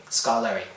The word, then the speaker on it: Skarloey: I just you just say how it's pronounced Skarloey scolari for the completed project